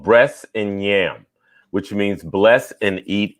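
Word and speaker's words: Bress 'n' Nyam: say the name of your book it's called breasts and yam which means bless and eat in gulligici as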